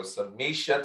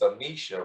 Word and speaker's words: Samichie: the first time is samisha rhymes with keisha yeah that's right you